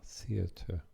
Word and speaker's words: theatre: Incidentally, if you live in England or go to England, it's theatre, but it's pronounced the same, theater, R-E.